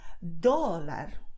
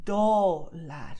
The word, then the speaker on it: dólar: So if you say dólar, the do part of it is going to be a long movement. Your tongue is like enjoying the ride, okay? So it's doing dólar, okay? And there's a lot of contact with you. You can actually feel your teeth in the tip of your tongue if you do dólar, okay?